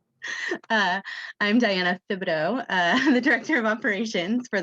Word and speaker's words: Thibodeau: I'm your coworker, and you still said my last name wrong. I'm Diana Thibodeau, the Director of Operations for the Washington Tourism